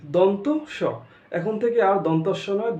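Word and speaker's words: দন্ত্য স: তারপর এটা কি, এটা কি দন্তস্য বলি আমরা, শুদ্ধ উচ্চারণই দন্তস্য না, আসলে দন্তস্য নয়, এটা দন্ত স, দন্ত স, দন্তস্য নয়।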